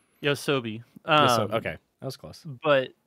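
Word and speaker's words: YOASOBI: yeah, Yosab? Is it Yosabe? Yosab? something like that. I'm trying to remember the actual pronunciation. Pronunciation. Yosobi.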